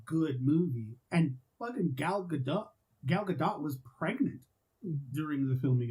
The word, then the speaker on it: Gadot: And fucking Gal Gadot was pregnant during the filming of that movie. I thought it was Gal Gadot. No, it's Gadot.